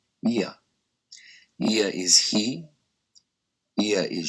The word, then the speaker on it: ia: 2 letters, ia, pronounced ia.